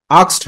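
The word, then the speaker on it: asked: তো ইন্টারোগেটিভ সেন্টেন্সে reporting verb কি হয়, আক্সড হয়, এক্সড অর আক্সড, দুইটা প্রোনাউন্সিয়েশনই সঠিক।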